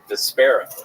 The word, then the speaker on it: Despera: Despera.